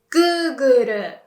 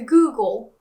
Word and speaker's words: Google: In Japanese, we would use the R sound instead. So, Google, that L sound becomes Google. So, although it's a bit slangy, you can say to Google as the verb, right?